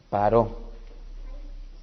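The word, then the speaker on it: פרעה: Que Paro, que sería la forma en cómo se pronuncia precisamente en el hebreo faraón, Paró.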